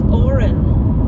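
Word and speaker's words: Odhran: so many of them the other one is Oren which is spelled o d h r a n again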